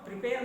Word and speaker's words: prepare: Prepare, no. Prepare. This is verb. See, if it is verb, stress is on second syllable.